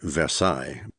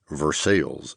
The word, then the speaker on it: Versailles: The Romantic French way would, of course, be Versailles, but too many Americans would inevitably pronounce it the same way that everyone in Kentucky did, Versailles, and that would have